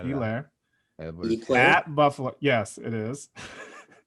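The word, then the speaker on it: Helaire: That's no H, by the way, if you guys didn't know. Elaire. Hilaire. No, it's Elaire, pronounced Elaire.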